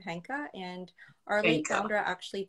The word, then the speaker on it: Henkaa: pronounce the the name henka and arleigh sandra actually based the name on a japanese word that's called henka and it means change